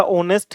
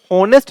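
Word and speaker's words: honest: नहीं आ रहा लेकिन अगर आप इसको प्रोनाउंस करोगे ना तो यह क्या बोलेगा यह नेस्ट नहीं बोल इसको ऑनेस्ट बोलते हैं ना क्या बोलते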